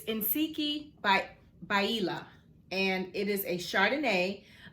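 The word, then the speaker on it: Ntsiki Biyela: did i say that right how to phonetically pronounce her name it's insiki by baila and it is a chardonnay a south african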